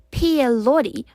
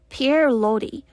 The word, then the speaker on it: Pierre Loti: semi-autobiographical novel, Madame Chrysantheme by Pierre Loti, or let's just pronounce it in the nice American way, Pierre Loti.